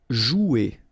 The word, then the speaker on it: jouer: Okay, remember you combine this O and U, you get the sound OU. So joue. Okay, J is pronounced like J. Joue. And then ER here, you combine them at the end. Et. Jouer.